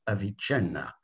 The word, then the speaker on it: Avicenna: man as described by as the italians would pronounce it avicenna meaning the great philosopher